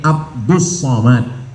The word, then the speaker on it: Abdul Somad: jadi Sebenarnya nama ini Abdus Somad tapi kemudian ditulis dengan Abdul Somad banyak jamaah yang kata nama Ustaz ini salah kata saya nama saya tak salah awak yang salah baca tulisannya Abdul Somad tapi membacanya adalah Abdul Somad Nah jadi nama ini